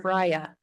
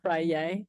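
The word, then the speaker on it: Feyre: I think it's or Freya. not like Friday? not like Kanye. No, Frye.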